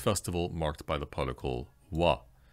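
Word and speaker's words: は: marked by the particle W which strangely is written actually with the character ha and yet as a special case pronounced W for this particle and what the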